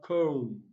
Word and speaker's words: comb: Option C, we have comb. Don't forget the letter B is silent.